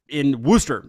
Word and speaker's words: Worcester: But I found some things in Worcester. We practice this also. It's not spelled like Worcester, but that's how they say it. I want to fit in, so I mean, you're almost there. Worcester, yeah.